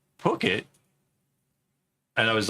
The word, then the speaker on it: Phuket: I'm like, Phuket? And I was like, because PH is how you say phone. And that makes it sound completely different. And like, I couldn't believe that wasn't being pronounced differently.